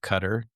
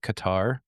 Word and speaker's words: Qatar: it's associated with the country of cutter or some folks pronounce it Qatar and everything you know